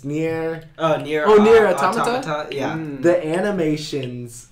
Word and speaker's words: Nier: He pronounces it right. It's near.